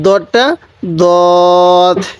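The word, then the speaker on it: ضاد: যে হুজুর এই যে দত আর দালের উচ্চারণ তো একই। দেখুন, দালটা কিন্তু অনেকটাই শক্তভাবে উচ্চারণ হবে, দাল, আর দতটা দত, এরকমভাবে উচ্চারণ করব।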